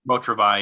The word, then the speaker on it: Beau Travail: Is it pronounced Beau Travail? Beau Travail, yeah, the Claire Denis film.